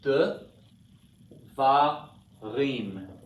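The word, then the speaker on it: דברים: It's on the last syllable. So that is the stressed syllable. But now we want to think about how there are three syllables here. De, va, rim.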